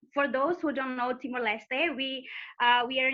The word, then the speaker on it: Timor-Leste: is a new country and most people don't pronounce it right and it's not your fault and it's okay so yeah it's it's timor-leste this is the official name but in english